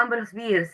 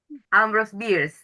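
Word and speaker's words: Ambrose Bierce: Ah, Ambros Bears. Ahora ya caí. Bueno, la pronunciación Susy, vos la sabes bien. ¿Cómo se dice? Ambros Bears.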